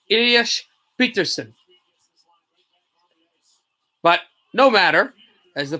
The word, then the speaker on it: Pettersson: For example, actually, everybody says Pettersson still, and Elias has said himself his name is pronounced Elias Peterson.